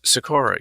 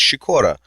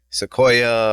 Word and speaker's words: Sikora: Well, I mean, the Polish way to say it is Sikora, but I don't, we're in America. I'm not going to be like, Joseph Sikora, you have to pronounce it like this. It's like, no, you can say Sikora, it's all good, man, Sikora.